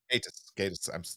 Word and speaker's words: Gatiss: It's Goddess that directed it, right? Mark Goddess? Yeah, uh, Mark Gatiss wrote and directed. Yeah. Gatiss, I'm sorry, my American pronunciations.